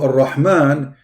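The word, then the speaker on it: الرَّحْمَٰن: So Ar-Rahman, the letter Ra, it is two R, not one.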